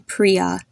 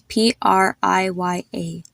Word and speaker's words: Priya: are so many so notice how I'm saying the name Priya it's spelled as p r i y a the I here makes the same sound if you would have a double e there Priya another example is the